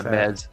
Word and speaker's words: Mez: was Maz baz da Mez yeah Mez like Mesmer all right I'm going